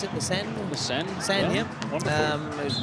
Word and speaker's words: Seine: Is that how you pronounce it? The Seine? The Seine.